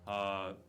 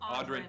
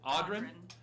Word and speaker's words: Audrin: Odrin. Did I pronounce it correct? Audrin. Audrin. Like something's odd. Yep. Audrin.